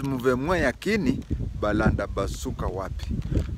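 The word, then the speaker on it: mouvement: Then it says move mwa yakini balanda basuka wapi. Move mwa, the spelling is movement, but it, in French they pronounce it as move mwa.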